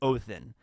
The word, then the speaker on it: Odin: So Odin is Odin. It's just, I think the way that you correctly pronounce Odin in Old Norse is Othin.